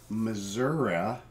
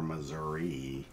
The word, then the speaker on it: Missouri: Fun fact, Missouri, or Missouri, if you want to say it that way, say it like that.